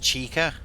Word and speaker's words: Chica: Bonnie, checker, Freddy, and Foxy.